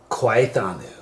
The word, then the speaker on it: Khwai Thanu: Khwai Thanu.